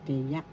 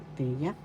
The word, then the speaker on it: tiyak: t second syllable yak the second syllable accent so you pronounce this as tiak tiak definite article example ang